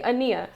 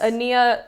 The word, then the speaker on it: Aniyia: Yes, this is me, Aniyia. So, the P is silent. Yes. Aniyia, like Anita without the T, and spelled in a really crazy way.